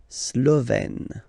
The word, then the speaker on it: Slovène: Remember, E accent grave, you open it, Slovène.